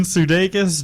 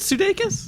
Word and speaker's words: Sudeikis: And Jason Sudeikis, Josh... Sudeikis. Isn't it Sudeikis? No, Sudeikis. Are you he's- sure? No, he's married to my wife. Oh, okay. So I would. All right, Jason Sudeikis. No, it's Sudeikis because that's how they pronounce his name in